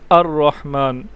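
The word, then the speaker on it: الرحمن: आप देखें यह हम यह हमजा आ रहा है अर रहमान यह स्टार्ट में आ रहा है इसलिए इसको हम प्रोनाउंस कर रहे हैं जबकि यहां पर आप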